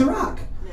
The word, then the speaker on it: Iraq: to say iraq there's no such thing as eric it's pronounced iraq i'm pretty sure when he was like we're